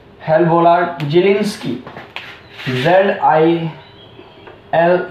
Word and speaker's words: Zelinsky: hello वोलार्ड जेलिंस्की, जेड आई एल ई एन एस के वाई,